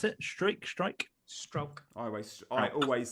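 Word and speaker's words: Struijk: Oh, well, I mean, he's Dutch, and there's that sound that I cannot make in Dutch. The U and the I is kind of like it's halfway between like ow and o.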